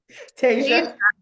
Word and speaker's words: Tasia: But Tasia Tas Oh my gosh, I'm already doing it. Tasa. There we go.